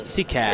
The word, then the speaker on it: Tikaz: I'm gonna go right here because it's Tommy Tikaz. Tikaz. Is how you pronounce his name.